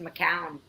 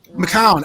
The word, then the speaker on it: Macoun: While we're at it, my last name is pronounced Macoun, but Macoun, and I've been mispronouncing that.